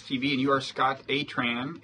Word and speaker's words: Atran: and you are scott atran is that how you pronounce your last name it is right i'm scott i've been